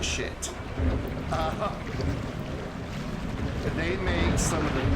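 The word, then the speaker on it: Schiit: And yes, you pronounce it shit.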